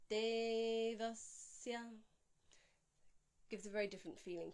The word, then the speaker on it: Devasya: Devasya.